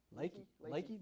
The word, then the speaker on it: Leakey: We got Leakey up, Lakey, the Lakey up Eagles.